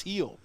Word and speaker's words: Gil: on the mound Gil I've been told it's pronounced heel well you know when I don't care it's Gil Luis heel hey same rule applies